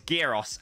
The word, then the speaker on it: gyros: was like, it's Moussaka and it's Gyros, and you better pronounce it like that for the rest of your life.